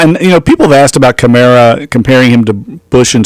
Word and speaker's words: Kamara: Alvin Kamara, and it's Kamara, isn't it? Alvin Kamara. That's what he told us. He said we've all been mispronouncing it. Just think of Camaro, Alvin Kamara.